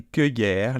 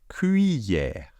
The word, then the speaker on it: cuillère: Donc, non, ce n'est pas une cueillère, les amis. Ce n'est pas une cueillère. On prononce ça cuillère. Ok? Donc, je répète. Comme cuit, comme les oiseaux. Cuillère. D'accord? Donc, comme si c'était cuit, un plat cuit, d'accord?